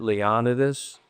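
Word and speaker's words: Leonidas: a bishop I think leonus poke and I understand his family pronounces it leonidus and uh Gideon pillow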